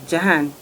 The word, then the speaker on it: Jahan: about you, and in particular, though, your son, Jahan. Jahan, we call him, right? Call him. How do you pronounce his name?